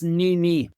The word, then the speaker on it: NiME: So as I mentioned, this NiME Diet trial, am I pronouncing that properly? First of all, NiME. Oh yeah, we thought it's NiME.